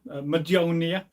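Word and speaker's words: Mjölnir: This is, of course, a Thor's hammer, Majonia. People always pronounce it wrong. You've got to emphasise the nia at the end.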